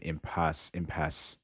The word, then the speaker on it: impasse: The last E in impasse is silent.